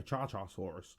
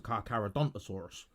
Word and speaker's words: Carcharodontosaurus: I was calling it a Charchasaurus, because I couldn't pronounce it. It turns out it was a Carcharodontosaurus.